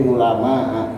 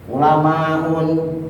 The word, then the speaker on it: ulama: di ulama dibacanya. Dan nggak boleh ini semua agniaun, ada yang baca agniaun salah itu, ambiaun misalnya, ulamaun, nggak boleh.